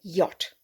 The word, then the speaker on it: yacht: the same word but they actually pronounce the ch okay but we just go yacht we did used to